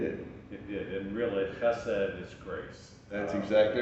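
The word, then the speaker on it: חֶסֶד: One of the things that's been interesting to me is that there is a word, and you can pronounce it, Chesed. Chesed.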